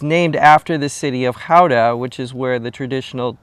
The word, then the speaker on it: Gouda: here, spelled G- O U D A is pronounced Kha. And it's named after the city of Kha, which is where the traditional cheese trade started in about the year 1198.